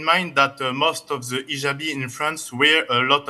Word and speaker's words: hijab: What you're referring to is hijab with an H. And I know in France they don't pronounce the H when it is in the beginning of the word, as in hotel or hello.